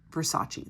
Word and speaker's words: Versace: blonde at her brother's urging at age 11 Versace that's how you say it sorry friends I